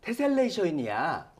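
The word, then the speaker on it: tessellation: 아, 근데 좀 신기하긴 한데 그 놀러 가가지고 엄마가 얘들아 이게 테셀레이션이야. 맞아요? 테슬레이션? 발음이 아, 계속 왜요?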